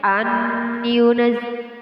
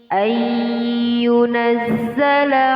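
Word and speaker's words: يُنَزَّلَ: Jadi nggak boleh bacanya an yunaz, akan tetapi yunazzala alaikum.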